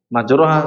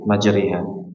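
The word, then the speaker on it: مجراها: Majroha salah, karena di sini dikhususkan dalam ayat ini majriha, majriha.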